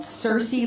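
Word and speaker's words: Sirsy: Rich and we are a band called Cersei like it's spelled in my drum sir r s y and we're going to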